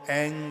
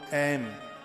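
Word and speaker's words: ऐं: ओम ऐम ह्रीम क्लीम चामुंडाई विच्चई। बहुत लोग इसको एंग बोलते हैं। वो बोलेंगे ओम एंग ह्रीम क्लीम चामुंडाई विच्चई। शुद्ध उच्चारण इसका यही है, ओम ऐम ह्रीम क्लीम चामुंडाई विच्चई।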